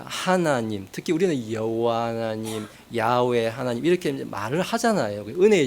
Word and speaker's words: 야훼: 요드해 바브해 이제 이렇게 돼 있는데 그걸 그대로 읽으면은 예전에 저는 이제 여호와라 우리는 배웠는데 좀 더 성경에 가깝게 읽으면은 야훼라고 있는 게 좀 더 저 발음에 가까운 발음이에요.